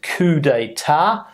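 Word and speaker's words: coup: two people T Tate the next one is C pronunciation we can see here c c couet couet is when somebody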